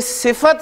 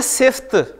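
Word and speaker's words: صفة: तो कोई सिफत जो है आप देखें हम बोलते हैं इसे उर्दू में बोलते हैं सिफ्त, लेकिन इसकी प्रोनाउंसिएशन जो है अरबी में वो है सिफत, सिफत यानी फा पे जबर बोलनी है।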